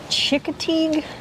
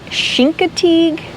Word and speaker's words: Chincoteague: I'm gonna guess, because I think I've heard somebody say Chincoteague?